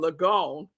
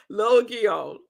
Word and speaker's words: Logion: And yesterday I was saying Logion. That's so wrong. That was so wrong. It is pronounced Logion. Logion. It's three syllables.